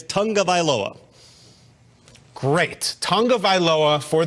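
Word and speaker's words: Tagovailoa: NFL research team and their pronunciation is Tong of aloa great Tong of ioa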